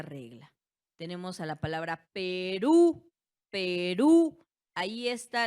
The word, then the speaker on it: Perú: Tenemos a la palabra Perú, Perú. Ahí está, la sílaba tónica recae en la última y como vemos, ¿en qué termina?